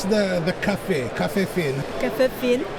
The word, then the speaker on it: phin: Lynn, how do you pronounce the Café Phin?